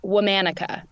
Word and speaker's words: Womanica: of the name of the podcast it is pronounced womanica well manika I like that now where'd that